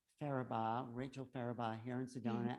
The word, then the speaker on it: Farabaugh: how do you say your last name again farabaugh farabaugh rachel faraba here in sedona at the dream